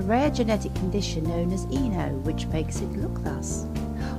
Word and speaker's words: Ino: suffering from a rare genetic condition known as Eno, which makes it look thus.